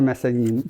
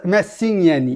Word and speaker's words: Massignani: J'étais avec moi Massagnani. Yes. Massignani. Yes! Excuse-moi, la prononciation est dure.